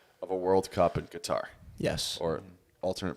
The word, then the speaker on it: Qatar: the big topic today is the implication of a World Cup in Qatar, Yes. or alternate pronunciation. Cutter.